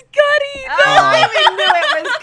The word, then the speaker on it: Cudi: Is it cutie? Is it cutie? Did I say it wrong, or do you know the song? Is it Cuddy? It's Cuddy.